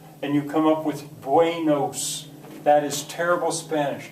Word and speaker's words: buenos: that Spanish word buenos, if you pronounce it carelessly, a an English speaker is going to want to say buenos. They're going to want to go A-E instead of just eh. It's bue, bue, bue, o.